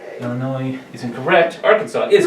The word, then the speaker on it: Arkansas: According to a 2010 resolution, this southern state's name should be pronounced in 3 syllables with the final S silent.